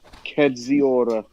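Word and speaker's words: Kędziora: Kedziora.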